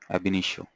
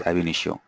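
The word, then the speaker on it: Ab Initio: Nish AB it is called as AB nisho ainio yeah it is pronounced as ainio ainio is uh for huge volumes of data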